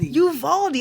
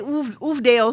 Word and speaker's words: Uvalde: Uvalde. I want to say Oofdale so bad. I get it because of the way it's spelled.